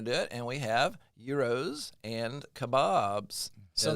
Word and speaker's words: gyro: And we have euros and kebabs. So, that's how you say it. Euros. Yeah. Ero, not a gyro or a gyro. Gyro. Yeah, it's a it's a yo.